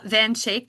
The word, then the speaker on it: Van Schaick: So my maiden name is uh Van Shake. That's how you pronounce it.